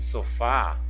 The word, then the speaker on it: sofá: aqui ó sofá então em sofá eu vou ter uma sílaba que vai ser mais forte pronunciada com mais intensidade com mais força vai ser a sílaba tônica por exemplo sofá Qual que é a sílaba pronunciada com mais intensidade o fá né o faço fa Então nesse caso eu vou verificar a posição da sílaba Olha ela está na última posição Ok então ela é